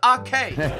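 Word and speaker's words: Aké: Lordo01 says it's pronounced Nathan Akey's way. Come on, bro. Adam Metz says this episode was Ake. Neil says love you's way, but please, it's Nathan Ake.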